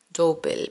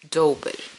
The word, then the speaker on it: double: inglés es Double crochet Double como doble con la u en el medio doble doble dobel Pero ellos lo pronuncian douel siempre es bueno aprender